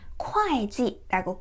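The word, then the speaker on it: 会计: 회계라는 표현에서는 이 글자가 회지가 아니라 콰이지라고 콰이라고 발음이 됩니다.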